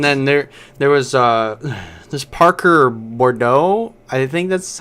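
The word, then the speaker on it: Boudreaux: And then there was this Parker Bordeaux. I think that's how you pronounce his last name. I think so. He was I don't supposed. know. It is Bordeaux.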